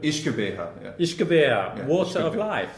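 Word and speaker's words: uisge beatha: This comes from the Gaelic Ishkabeha, which means the water of life. Ishkabeha? Ishkabeha, yeah.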